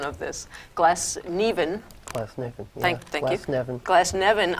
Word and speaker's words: Glasnevin: He's buried, I always mess up the pronunciation of this, Glasnevin. Glasnevin, yeah.